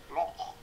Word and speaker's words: loch: Loch. I don't know how you pronounce that. Something like that. Yeah, that's it. Loch. The morning mist. Loch. Can I do that? Production. An icy loch. Yes. Sure. That's a Hebrew Jewish sound that I specialize in.